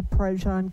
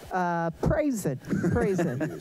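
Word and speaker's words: Prazan: Yes, I'm Prajan. You got to spell that for everybody. P-R-A-Z-A-N. And what do people usually say when they see that? Praise it.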